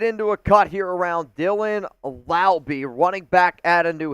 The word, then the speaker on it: Laube: Dylan Laube. Yeah, rhymes with Wowby.